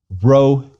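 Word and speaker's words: Rho: P but it's not ro is an R if you can trill it the way they do in the Mediterranean please do I on the other hand his son of Wisconsin will proceed with a good ol old American please repeat row row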